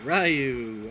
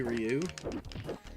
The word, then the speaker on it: Ryu: to try with Ryu rayu I never I've always heard it Ryu except when I was a kid and me and my family pronounced it rayu so I guess it should be Ryu Yes doam except the